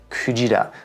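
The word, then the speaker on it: くじら: How are you supposed to know that it's pronounced kujira?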